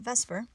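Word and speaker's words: VSEPR: s e P are chemists just pronounce that Vesper anyways we can use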